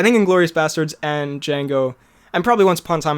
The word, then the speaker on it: Django: is my second favorite django django the d is silent though as he says